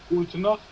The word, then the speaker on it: Gute Nacht: Gute Nacht.